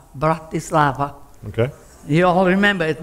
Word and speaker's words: Bratislava: how you pronounce it it's very easy okay in three syllables a bad child breath this is in love mountain love bratislava okay you all remember